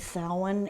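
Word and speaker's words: Samhain: it's a Gaelic word Selwyn and don't look at it and try to pronounce it phonetically because it'll never have but it is not even close to the way it's spelled we have Halloween which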